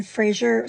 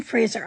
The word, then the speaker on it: Fraser: the second one that Brendan Frasier sorry Brendan Fraser I have apparently been saying his name wrong for Years anyway it is the